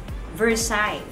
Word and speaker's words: Versailles: So what's the pronunciation of your powder? Versailles.